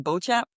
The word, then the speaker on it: Beauchamp: His name is Nathan Beauchamp.